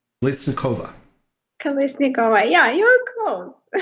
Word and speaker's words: Kolesnikova: to welcome and tell me how you pronounce your last name it's tricky uh my last name is kalesnikova listen kova kalisnikova yeah you're close it's it's funny i i